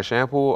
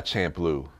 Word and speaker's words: Champloo: um is called Samurai Champloo oh yeah my shampoo oh yeah that's good that was that was